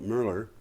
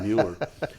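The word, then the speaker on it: Moeller: Commissioner Philip Mueller, I'm sorry, I'm pronouncing that in German, probably Mueller, a Republican appointee, described them as, quote, not insurmountable, end quote.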